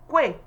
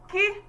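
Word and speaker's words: quay: Someone may be tempted to pronounce it as Kwe. That's wrong. This word is produced as Ki.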